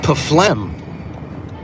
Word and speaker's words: phlegm: Because if it was silent P and silent G, it'd be phlegm. But the P and H make an F sound. So it's not silent. It's just transformed because of the H.